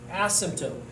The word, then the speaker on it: asymptote: x-axis acts as an asymptote the p is silent asymptote an asymptote is any